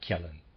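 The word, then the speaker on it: Kjellén: developing kellen readers aside kellen has spelled k-j e ll e with a graph and i am pronouncing that Kalin apologize for any mispronunciation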